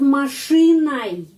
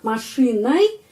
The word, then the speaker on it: машиной: Матрешка над машиной. Kita menulis ой, tapi bacanya ai. Над машиной. Kenapa ai? Karena penekanannya berada pada huruf i.